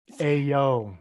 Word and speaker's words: Aillaud: It's a foreign name, so it looks nothing like it sounds.